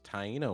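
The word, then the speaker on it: Taino: the uh so barbecue comes from the indigenous tyo word which tyo are the indigenous people of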